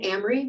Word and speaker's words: Amery: wanted to just say my name again amri rhymes with camera if that helps you to remember it and i have been